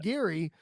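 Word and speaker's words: Giri: Is it Geary, or is that I how you believe pronounce his so. name? Okay. I, So I it's believe so. Raj Yeah. Geary.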